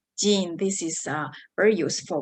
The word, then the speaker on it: 人: all right so let's look at the second pronunciation you can use uh it is jin jin this is uh very useful one is for